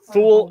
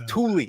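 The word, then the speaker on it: Thule: blow a month's pay in one night in fool Greenland. Of course, jarheads are prone to exaggeration. We all know it's impossible to blow a month's pay in fooland. And that is Sergeant Slaughter. It's Tulie.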